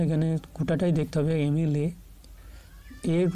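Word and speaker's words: MLA: এমএলএ a sound আসছে, বাংলাতে a sound আসছে, তাই এটার উচ্চারণ ভাওয়েলের মতো হচ্ছে।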